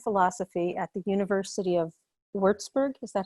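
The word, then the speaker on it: Würzburg: computer science and philosophy at the university of wurzburg is that how you say it yes um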